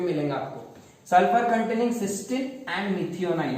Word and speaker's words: cysteine: But here these amino acid सिस्टीन, सिस्टाइन, सिस्टीन, this is सिस्टीन एंड सिस्टाइन is different. सिस्टाइन, दो spellings है, okay, this is different, but वी are studying this सिस्टीन, TEINE।